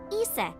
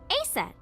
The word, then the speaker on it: Aset: Horus's mom is named Isis, but in ancient Egyptian, it's pronounced closer to Isa or Aset.